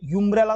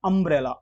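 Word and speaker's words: umbrella: तो अम्ब्रेला, ये यूम्ब्रेला तो नहीं है, यह है अम्ब्रेला, ओ से उच्चारण हो रहा है, तो स्वर है, तो जाहिर सी बात है इसमें एन आएगा।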